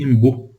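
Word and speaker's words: M'Boy: Imbu se escreve M-Boy, né? M-Boy com Y, M-Boy, né? Você lê Imbu.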